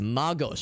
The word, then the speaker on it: magos: come here esteemed magos it's magos with a hard G I was I thought it was a soft G like Mages I this was my